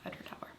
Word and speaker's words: Edradour: So you said that they had on their site, it's Edradour, like sour, Right. or hour. So it helps me remember that's Edradour.